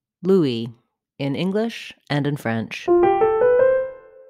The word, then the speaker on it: Louis: with a W Louis the French name is pronounced with a different syllable stress Louie stress the second syllable Louie for more help with